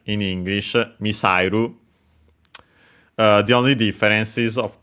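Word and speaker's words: ミサイル: The accent is on the sa, and yeah, so actually like in English, misairu, missile, misairu.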